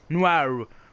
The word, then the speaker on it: Noire: Noire, faut le prononcer avec l'accent américain.